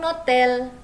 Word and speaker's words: hôtel: Kalau dia huruf vokal seperti hotel dalam bahasa Prancis itu, hotel itu adalah H-nya itu tidak diucapkan, jadi dianggap dia huruf vokal atau dia tidak ada.